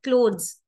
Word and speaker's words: clothes: it is unvoiced but if I put a e then what will happen it will come between two worlds and it will become voiced so it is and not bath same happens with clothes so when it is the uh when it is the last sound it is cloth the moment you write e it becomes cloth clothes right so Uno changes